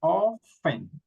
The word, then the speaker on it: often: For example, here we don't pronounce the T, so we say often.